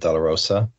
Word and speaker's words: DeLaRosa: him but thinks um uh deler Roa is that how you pronounce it yes that's right my name is Del Roa wonderful and do you